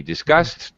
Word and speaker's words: discussed: But when we pronounce it, it actually sounds exactly like this word, disgust. We discussed.